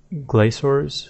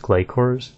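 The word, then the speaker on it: Glough: have pronounced it then glour is pronounced gayor gayor so more of a harder sound rather than the what I originally thought so gayor the Zam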